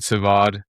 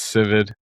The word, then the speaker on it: Sivad: It's not Sivad, it's Civid.